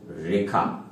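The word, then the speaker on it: rho: ধরি তরলের ঘনত্ব রো উচ্চারণটা হচ্ছে রো আগেও বলা হয়েছে।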